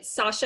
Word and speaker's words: Sasha: What kind of, I think it's Sasha, am I pronouncing that right?